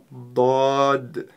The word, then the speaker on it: ض: А для начала давайте научимся правильно ее произносить. ДОД.